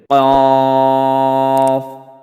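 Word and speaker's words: قاف: জিহ্বার গোড়া বরাবর উপরের তালুর সাথে লাগিয়া কফ উচ্চারণ করিতে হবে কফ কফ কফ কফ ক তারপরে আসি পাঁচ নাম্বার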